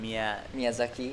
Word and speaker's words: Miyazaki: I've been around to Tahara, Shonan, and Miyazaki. I don't know how you say it. Miyazaki.